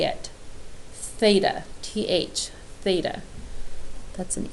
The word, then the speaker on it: theta: down what that is we pronounce that theta it's part of the Greek alphabet and it's commonly used